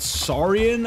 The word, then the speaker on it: Saurian: Saurian, I believe, is the how you pronounce it.